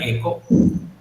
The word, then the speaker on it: echo: En este caso eco, como se pronuncia eco, ¿ya? Por eco, porque la H no suena, ¿sí? En el inglés la H no suena y nosotros pues pronunciaríamos hecho, pero en realidad se pronuncia eco.